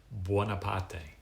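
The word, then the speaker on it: Buonaparte: So he um I think the Italian pronunciation of their name is Wapate.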